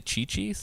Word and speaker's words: Cici's: So Cici's Pizza in Italian is actually Chi-Chi's. Is actually how you would pronounce it.